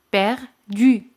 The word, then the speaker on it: perdue: Y perdida, perdu. Se añade e, pero se pronuncian igual.